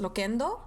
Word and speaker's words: Loquendo: Okay, Loquendo, pronounced Loquendo.